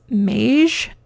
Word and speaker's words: Maje: I think it's pronounced Maje, M-A-J-E. Pretty simple tag here.